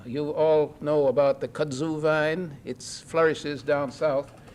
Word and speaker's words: kudzu: But anyway, that's the kudzu vine. It's become pronounced kudja in some places in the south, the kudja vine.